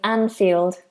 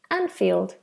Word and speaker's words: Anfield: who already knows um which is the correct pronunciation of the stadium anfield anfield anfield okay hope that helps so it's a game